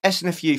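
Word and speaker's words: SNFU: Right, it's S.N.F.U from Canada. That's how you say it.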